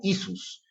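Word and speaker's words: Ἰησοῦς: En el griego, hemos visto que el nombre del Señor Jesús se pronuncia como Isus, y los mesiánicos y judaizantes lo presentan como si fuera un nombre compuesto, algo que no es cierto.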